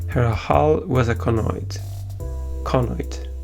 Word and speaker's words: conoid: Conoid. Sorry, not pronounced it correctly. The accent is in the first syllable.